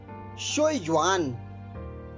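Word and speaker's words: 学院: ये है शोयुआन। इसकी स्पेलिंग नोट कर लीजिए, XUEYUAN। स्पेलिंग एक बार फिर सुन लीजिए, XUEYUAN। अब इसका ध्वनि वादन सुनिए, शोयुआन, शोयुआन, शोयुआन।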